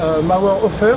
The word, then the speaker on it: Mauerhofer: Je sais pas, Vienne, les Alpes, en compagnie de Mauerhofer. Est-ce que je le prononce bien?